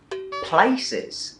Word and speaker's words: places: school ไม่ใช่ school ใช่โอเคเข้าใจโอเคต่อไปคำที่7นะคะคือคำว่า places Thais will again pronounce as places good again they will add the syllable at the start you heard Giffy pronounced